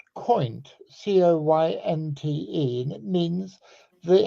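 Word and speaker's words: coynte: It is actually pronounced coint, C-O-Y-N-T-E, and it means the head of a carp.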